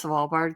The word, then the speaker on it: Svalbard: Do I pronounce Svalbard correct?